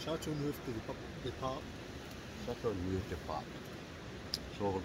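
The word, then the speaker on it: Châteauneuf-du-Pape: Johnny Explore Scotland, if you're watching, look what G's got, your favourite Chateau du New Puff. Is that how you pronounce it? Chateau Neuf de Pape.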